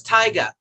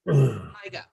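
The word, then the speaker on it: Taiga: The best way to remember how to pronounce this company is it's Tyga, like tiger without the R. Tyga.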